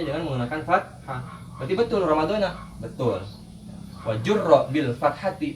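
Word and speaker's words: رَمَضَانَ: Ramadana di sini kalau kita tidak diidopatkan dengan kalimat selanjutnya, maka betul pengucapannya adalah Ramadana dengan menggunakan fathah, gitu.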